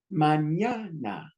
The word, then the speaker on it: mañana: It's 3 syllables. Ah. But according to the rule, the second one gets the stress. Ah. Add the consonants. You got the you got the and then you got the mañana.